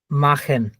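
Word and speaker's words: machen: তিনটার যে কোনো একটা, ধরেন এই তিনটার যে কোনো একটা প্লাস হচ্ছে সে হা যদি থাকে তাহলে খর মতো উচ্চারণ হবে। জি। এই যে মাখেন, হক, মাখেন।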